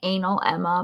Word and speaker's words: analemma: However, it does ignore that, I was going to grab a picture and I didn't, but an analemma, which is it's spelled like anal Emma, but it's analemma.